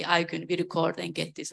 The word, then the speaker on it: Aygun: We say, okay, how this person you need to pronounce, let's say, Aygun, my name, so my face, and they say Aygun, we record and get this out.